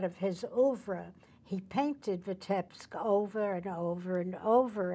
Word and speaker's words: Vitebsk: Vitebsk. Vitebsk.